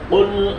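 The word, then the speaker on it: قل: রাজিম বিসমিল্লাহির রাহমানির রাহিম বিসমিল্লাহির রাহমানির রাহিম আমিন কুল আউজুবি রাব্বি নাস কুল আউজুবি রাব্বি নাস জিহ্বার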